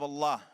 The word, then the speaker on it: Allah: of allah ar-rahman rahim allah pronounce a double el exhale with love allah the creator of